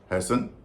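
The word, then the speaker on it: hasten: नहीं हो रहा है हैसन जल्दी करना टीका उचर नहीं होता मसन में भी नहीं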